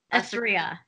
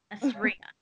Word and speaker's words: Assria: Assria. Perfect. Assria. I know it. It's got ass in it.